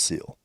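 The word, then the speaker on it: Cile: Her name is pronounced Seal.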